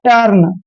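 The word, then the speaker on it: turn: Next है टी यू आर एन, जब भी यू के बाद आर आता है तो यू का उच्चारण ए करते हैं, इसलिए इसको हमने पढ़ना है टर्न।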